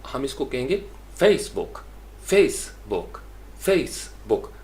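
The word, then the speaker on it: Facebook: Basically ये noun है तो हम इसको कहेंगे फेसबुक, फेसबुक, फेसबुक, फेस के ऊपर स्ट्रेस ज़्यादा होगा और बुक के ऊपर हल्का हो जाएगा।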